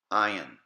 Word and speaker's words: ayin: Ayin, Pe, Sade, Kof, resh. Once again, ayin, pe, sade, kof, resh. Ayin. It's going to be silent and only take on the sound of the vowel.